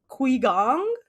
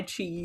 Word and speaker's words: Qigong: like a tai tai chi sort of Yes, I think you pronounce you pronounce it Qigong. It's chi chi. That's how you would pronounce it. Chi.